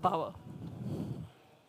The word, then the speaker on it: Paweł: Paweł. Not really. Oh, okay. Is the accent on the first syllable, so Paweł. Paweł.